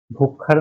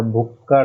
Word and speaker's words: भुक्कड़: भुक्खड़ नहीं होता, भुक्कड़ होता है।